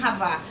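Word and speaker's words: חַוָּה: Adão e Havá, em hebraico, a pronúncia.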